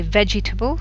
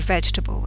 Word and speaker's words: vegetable: now vegetable and Wednesday if you look at the syllables vegetable and Wednesday both automatically miss out one of the written syllables you don't say vegetable you say vegetable and you don't say